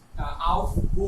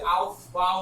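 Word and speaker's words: Aufbau: অর্থাৎ ভি ও ইউ তো লাস্টে বারোটায়, এটাকে অনেকে আউফ গো বলে, আউফ গো। তো ভয় পায় না, লিখে একই জিনিস আমরা উচ্চারণ করতেছি আউফ বাউ নীতি।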